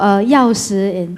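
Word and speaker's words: 钥匙: I was about to ask him, so 钥匙 in Mandarin, in China. I thought someone... How is it pronounced? It's not 锁匙, but 钥匙, right?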